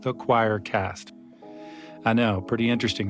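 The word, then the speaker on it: Quoircast: of podcasts called the Choircast. I know, pretty interesting, right? It's spelled Q-U-O-I-R, but it sounds like choir.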